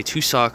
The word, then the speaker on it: tussock: Now, when I say tussock, I'm not talking about, you know, two individual socks. Rather, the way it's spelled is T-U-S-S. O-C-K, tussock.